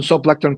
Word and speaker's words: zooplankton: I think he's probably saying it right, but it's like zoo, ZOO.